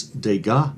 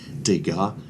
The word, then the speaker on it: Degas: So I named this Degas $2. A lot of these artists, the letters of their last names, you never pronounce them.